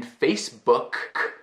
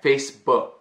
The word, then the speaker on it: Facebook: But Facebook, if you pronounce the K in Facebook, k, you feel that puff of air, Facebook, okay?